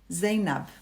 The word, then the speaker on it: Zaynab: name oh so nice zaynab good yeah norwegians can't pronounce uh the z very well they pronounce it as an s and i have it as z you go to zara